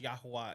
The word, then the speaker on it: Yahweh: English they'll be like Yahweh but it's actually pronounced yahuwah in Hebrew uh it's actually spelled